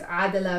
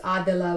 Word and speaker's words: Adhila: Like my name Adela, there's so many different ways to pronounce it. Like there's Adela, which is the Arabic version. There's Adela, which is the Spanish version. There's Adela, which is the way my parents say it.